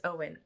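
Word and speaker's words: Eoin: an and Thomas and Owen I had to look up how to say it in this book it's spell e o i n and it's Owen um Owen's her grandfather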